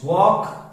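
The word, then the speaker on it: walk: तो जब भी एल के बाद क्या आता है तो L remains silent. वॉक, वॉक. इट्स नॉट वॉक, इट्स वॉक.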